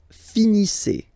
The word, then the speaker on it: finissez: Vous finissez. Vous finissez. Okay? A Z at the end gives you the sound E.